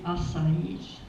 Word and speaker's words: Asai: But today, with the third, fourth, and fifth generation, they are known as the Asais, which is the correct pronunciation of my family name, Asai.